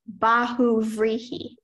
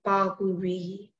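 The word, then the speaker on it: bahuvrihi: brow and red coat are all examples of Bahu rihi b a h u b r i h i baguri that is correct speller 13.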